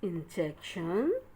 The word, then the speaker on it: injection: I-N, in, J-E-C, jack. T-I-O-N, shun, injection.